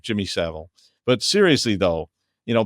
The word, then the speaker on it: Savile: Or acting like Jimmy Seville, but or Savile. I always say it wrong. Jimmy Savile.